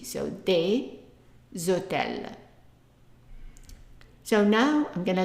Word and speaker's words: des hôtels: We pronounce them together and the S becomes like a Z. So we say des hôtels, des hôtels.